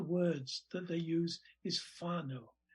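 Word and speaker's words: whānau: that they use is whanau wh which is f in maori pronunciation f means family and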